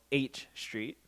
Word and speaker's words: H Street: um it's uh yeah H as in like the letter not like eight as in because they sound similar I was told how I pronounce it so H H yeah